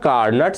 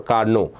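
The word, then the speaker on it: Carnot: spell it carut or Carno okay the actual spelling in Actual spelling the te remains remains silent so one of our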